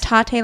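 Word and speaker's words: Tatte: Tate like latte.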